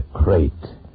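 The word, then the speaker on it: krait: Tonight, we escape to India, and the story of a man trapped in his bed by a crate, the most deadly, poisonous snake in the world, as Roald Dahl tells it in his terrifying story, Poison.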